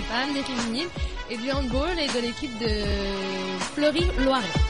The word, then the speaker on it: handball: Parce que c'est un sport qui vient d'Allemagne.